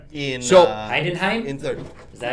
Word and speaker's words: Heidenheim: in Heidenheim? in 3rd. Is that how you say it? Who? Heidenheim.